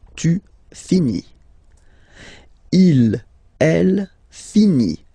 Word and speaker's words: finit: Il, elle, finit. So IT, final T not pronounced.